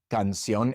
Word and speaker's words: canción: But in each of these words, we stress the last syllable, and so we have to write an accent mark above that last vowel.